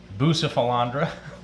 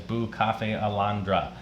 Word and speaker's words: Bucephalandra: Most people call it Bucephalandra, but the actual pronunciation is Bucafe Alondra.